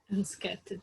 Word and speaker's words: unscathed: Unscattered. The pronunciation is unscattered.